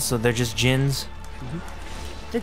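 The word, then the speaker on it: Djinn: Just for future reference you don't pronounce the d oh Gins so they're just Gins the D is silent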